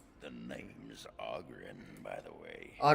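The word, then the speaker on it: Oghren: As you say, the name's Auggrin, by the way. Augren, stop talking. Ladies, pronounce it Augren.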